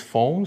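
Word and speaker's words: PHAWM: to be original but you can pronounce it as foam so it sounds like actually foam but um we are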